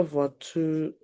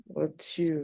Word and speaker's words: voiture: Il y a trois voitures dans le garage. Please pronounce the voiture very well. You are bigger than that. Abba. I said voiture. It cannot be voiture. Look at it again.